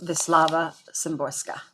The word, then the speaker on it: Wisława Szymborska: Yeah, pronounced Wisława Szymborska.